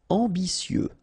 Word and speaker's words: ambitieux: Ambitieux, final X not pronounced, and then remember that you get this T, I, and then vowel, so si. Ambitieux, ambitieux.